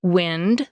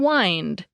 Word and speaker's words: wind: And as Greg pointed out, some homographs are pronounced differently, like wind, the movement of air, and wind, to coil something like a string around another object.